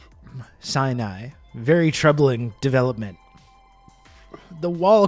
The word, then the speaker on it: Sinai: Spider-Man has attacked Mount siai hospital it's true and I was informed actually yesterday that I was pronouncing that incorrectly Sinai very troubling development the